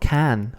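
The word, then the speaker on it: cane: in here can can it's not can or can it's can this is because the letter e is always pronounced e can and the letter a is always pronounced a as we've seen so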